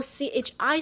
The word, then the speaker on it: chi: So we can get the whole chi sound. Voice it which is ch. Feel the vibration through your vocal cords. Okay. Chir ch. It's it almost sounds there's a r at the very end like chir in chirp.